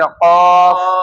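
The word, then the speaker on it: ق: যে হরফের উচ্চারণ জিহ্বার গোড়া থেকে। জিহ্বার গোড়া থেকে। গোড়া থেকে। মোটা করে আদায় করতে হবে। সে হরফটি হচ্ছে কফ।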